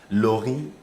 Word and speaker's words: Laury: Mais il faut dire que le Laurie, là-bas, vous allez voir que c'est le Y. Juste Exactement. parce que le E, aux Exact. États-Unis, se prononce comme le I.